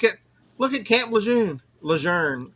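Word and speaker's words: Lejeune: Leger uh is the proper pronunciation.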